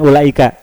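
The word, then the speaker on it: أولئك: Praktek ulaika, pembacaan lafadz ulaika ini harusnya dibaca lebih dari 2 harokat. Tapi tadi membacanya disamakan dengan yang 2 harokat.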